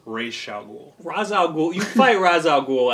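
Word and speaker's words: Ra's al Ghul: R ra raay i it's razaul is now acceptable I believe the proper pronunciation is R Shaul Raz you fight razal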